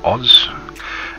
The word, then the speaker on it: Aus: it the very original prefix aus pronounced oz and yeah that's how